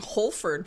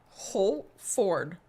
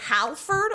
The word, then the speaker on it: Holford: Oh, For some reason, I don't get why, but saying Holford, people are like, how do you spell that? I'm like, Holford. Like, it is so, they're like, Halford? I'm like, no. Did I say Halford? Holford.